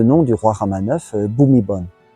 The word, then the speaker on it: Bhumibol: Et c'est là que ça se complique, parce qu'on va romaniser Prapum avec PH et Bhumibol avec la graphie BH. Et si vous écoutez bien les Thaïs, ils disent bien Bhumibol et pas Bhumibol.